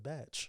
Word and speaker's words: Bach: but he pronounces it Batch.